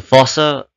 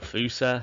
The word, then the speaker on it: fossa: a pair of glasses the fossa or fusa however you choose to pronounce it um is the largest